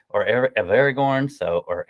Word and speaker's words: Aragorn: the coule couple thousand years grandfather of of Aragon or of Aragorn so or Aragon I don't know why I'm saying it wrong